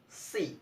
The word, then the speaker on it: see: Seashells, see, again, the first word, see, smoothly, see.